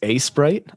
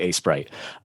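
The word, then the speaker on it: Aseprite: I think it's A-Sprite. It's AESPRITE. So yeah, it's probably A-Sprite.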